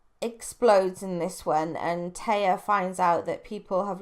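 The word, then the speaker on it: Tea: young lady named Taya, which is written T as in the drink, T-E-A, but I'm sure it's pronounced Taya.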